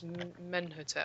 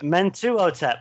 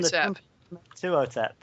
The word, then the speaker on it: Mentuhotep: This was Menhotep. Mentuhotep. That's the one. Mentuhotep.